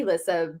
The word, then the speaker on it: Elisa: So it's technically Elisa, but even my parents just call me because it's a lot to pronounce the E. So Elisa, it doesn't matter either way.